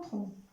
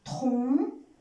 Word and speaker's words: tronc: Contre un tronc. Contre un tronc. Il y a une lettre muette. C'est la lettre C, on ne la prononce pas.